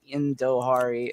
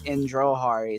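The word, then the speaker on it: Indrahari: I didn't see the R. I thought it was Indohari, but it's Indrohari.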